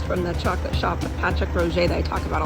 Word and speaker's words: Patrick Roger: That's how you say it, Patrick Roger.